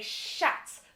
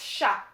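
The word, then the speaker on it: chat: then we have sha so anglophones would say shots but it's sha what is a shah jade a cat very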